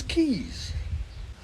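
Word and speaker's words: Caius: John becomes Sinjin and tires College Cambridge becomes keys and finally please if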